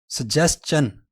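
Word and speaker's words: suggestion: इसकी आखिर वाली साउंड जो है ना वो है चन, शन नहीं है। सजेस्चन।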